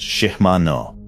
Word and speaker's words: Shimano: Power Pro is made by Innovative Textiles in Grand Junction, Colorado, founded in 1992, and now a division of Shimano, pronounced Shimano.